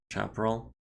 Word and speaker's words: Chaparral: point of heat oh Chaparral is pronounced similar to shrapnel chap roll the origin is a type of biome really okay so it's a chaperel uh grasshopper at the